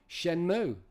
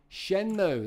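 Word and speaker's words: Shenmue: on sh with me Shen pronunciation shenmu shenmu there you go it's been resolved runs for all it's shenmu got sheni six out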